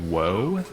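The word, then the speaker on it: を: So if I have this Nihongo O, so this particle here is technically wo, W-O, but you're only going to hear it pronounced as O.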